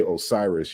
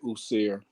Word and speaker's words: Osiris: it happens so when when you say Osiris you're not I mean technically you're pronouncing it in a Greek way but the root is Egyptian that's how they pronounced it I still like I still like usir or wasir and as I discuss